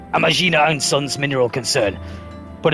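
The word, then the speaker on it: Amajina: Disruptions to ore shipments threaten not only the interests of the I've been pronouncing that wrong. It's Amagina and Sons mineral concern, but of Uldar herself.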